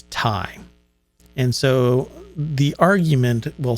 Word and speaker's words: Ti: its flagship rtx 3090ti i heard that this has been pronounced both ti and time and then during the nvidia kind of marketing hype about the 30 90. they kept referring to it as tie and so the argument